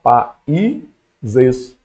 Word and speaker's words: países: a gente corta beleza mas a palavra países ela tem essa ideia ó pa ises beleza então países o i também ficou separadinho